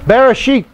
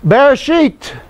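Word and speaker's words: בראשית: Bereshit. Yes, it's sheet. It's sheet. Because you must remember that the Hebrew I is pronounced as an E in almost all cases.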